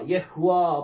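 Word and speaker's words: יהוה: அந்த ஹேவ் கூட நம்ம உச்சரிக்கணும். ய. அடுத்தது வா. யஹ்வா அப்படின்னு சொல்லி வரும்.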